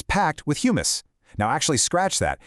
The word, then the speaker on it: humus: This right here is our vital top soil, and it's packed with humus. Now, actually, scratch that. It's not the chickpea dip. It's spelled hu.